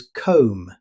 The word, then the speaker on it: comb: Even though the word ends with B, the correct pronunciation is comb. The B is completely silent.